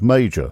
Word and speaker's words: Mauger: And he said, my grandfather's name was Major. Now this is spelled Mauger, and he never returned.